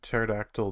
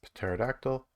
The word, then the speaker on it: pterodactyl: our database username is pterodactyl and i don't i said i pronounced the p like very lightly what the hell then